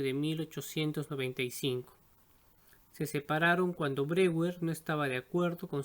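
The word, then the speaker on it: Breuer: el procedimiento desarrollado por joseph brewer algunos lo pronuncian broyer quien animaba a sus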